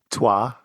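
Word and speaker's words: Troyes: Black Angel is a game that uses the dice mechanism from Troy or uh George, if you will, please enlighten us how to pronounce it. Tuah.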